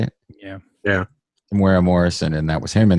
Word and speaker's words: Temuera Morrison: Temuera Morrison, and that was him in the episode.